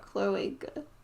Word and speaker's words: cloaca: Cloaca.